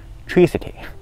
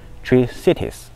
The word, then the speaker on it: Tri-Cities: 我说成是 Tri-City，但是呢录完节目之